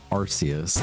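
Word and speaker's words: Arceus: Yeah, the anime says um, Arus, like Archus.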